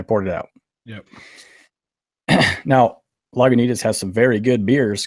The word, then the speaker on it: Lagunitas: first one I had that was terrible was Lagunitas did I say it right you did say